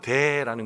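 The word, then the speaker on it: δέ: 헬라어 원문이 하나 생략되어 있는데 그 원문의 그 발음은 돼라는 건데 되는 우리나라 말로 그러나입니다 그러나가 빠져 있어요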